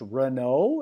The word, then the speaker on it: Reneau: his name is mispronounced Reno is that correct that's correct almost like the car uh well it's spelled